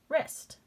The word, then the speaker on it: wrist: Silent W, ist. Wrist. My wrist.